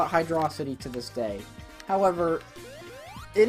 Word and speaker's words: Hydrocity: that is there well yes there is it's pronounced hydro city and hydro C yeah okay it's pronounced hydro